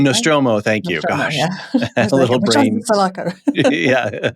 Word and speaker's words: Nostromo: So the Sulaco and I pronounce that terribly. The Sulaco and the Nostromo as well, I no, believe, right? Nostromo.